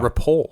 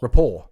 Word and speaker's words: Report: cover ever report is what it's no no rapport rapport yeah you don't pronounce that till I say to tell you